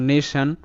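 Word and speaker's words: nation: ও এন সান হয় যেকোনো শব্দে টি আই ও এন থাকলে সান হবে অর্থাৎ টি এখানে স হিসেবে উচ্চারিত যেমন নেশান এন এ নে টি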